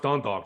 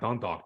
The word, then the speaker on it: Dundalk: spell wherever you're from it's pronounced Dundalk just sound out Dundalk don't talk um East Baltimore um